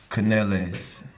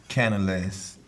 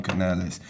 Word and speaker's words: Canales: my Juan caneles Canales Canales Canales hold up let me Canales do it again one canal say it like a Spanish person wait a minute he